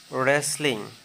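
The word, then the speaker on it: wrestling: রেসলিং, কুস্তি, এই ওয়ার্ডটিতেও ডাব্লু এর উচ্চারণ হয়নি।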